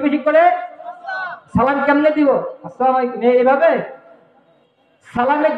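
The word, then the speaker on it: السلام عليكم: সালামের যে হামজাটা আছে, আমি যদি ওই হামজাটা স্পষ্ট করে দেই তাহলে সালামের হক আদায় হবে। তাহলে সালাম কেমনে দিব? আসসালামু আলাইকুম বলেন, আমার সাথে বলেন, আসসালামু আলাইকুম। অর্থাৎ সালামের যে হামজা আছে, ওই হামজা যেন স্পষ্ট উচ্চারণ হয়।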